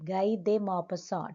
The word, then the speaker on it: Guy de Maupassant: Guy de Maupassant. T is silent.